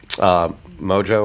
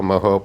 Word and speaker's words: mojo: think in fact I'm I went the mojo Moho pork I said it wrong last time and so I'm just gonna follow both ways mo ho there we go the pork seasoning was